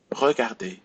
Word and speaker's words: regarder: So we will not pronounce the R if you have a verb ending in ER. So repeat after me. Parler, regarder, inviter, jouer, danser, écouter, aller, dîner.